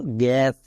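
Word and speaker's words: gas: দাঁড়ালো genius গিনিয়াস next একে আমরা কি বলবো গ্যাস না জ্যাস জি এর পরে কি আছে ই আই ওয়াই থাকলে বর্গীজ জি এর পরে দেখো কে আছে এ আছে এ থাকার জন্য কি হবে গো হবে উল্টোটা তাই জি এস কি হলো গ্যাস জি এস গ্যাস একে অনেকে ভুল করে জ্যাস বলে কেউ কেউ তো আবার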